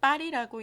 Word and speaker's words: 八里: 한자 표기로 살펴보니까 8팔자에 마을리자를 써서 대만식 발음으로 파리라고 읽는 것이었습니다.